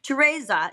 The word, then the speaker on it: Teresa: know Teresa Judi Judi I always say her name in the Italian way Teresa she has a daughter